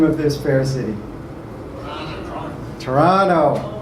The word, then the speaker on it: Toronto: of this fair city Toronto rhymes like piranhas so if you end